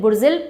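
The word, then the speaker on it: Burzil: Alright, उसके बाद ये हो गया पीर पंजाल, पीर पंजाल, और ये थर्ड है बुर्जिल पास, बुर्जिल या बुर्जिल, बुर्जिल प्रॉपर प्रोनाउंसिएशन है इसका।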